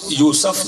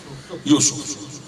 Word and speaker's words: یوسف: تلفظ یوسف نہیں، یوسف، جناب یوسف.